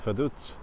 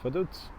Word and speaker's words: Vaduz: That's how they pronounce it, Vaduz. I was thinking maybe it's Vaduz or Vaduz. It's Vaduz.